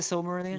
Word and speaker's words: Silmarillion: And then you got 5% who will go, oh my God, I need to read the Silmarillion. Is it the Silmarillion? Am Yep, I yeah. I pronouncing that think correctly?